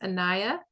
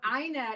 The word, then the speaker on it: Aina: So Aina is how it's pronounced. The spell, it's got the A at front, but it's Aina.